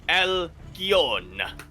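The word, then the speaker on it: Alcyone: I think it's meant to be pronounced like El Capone, so it's like Alkion.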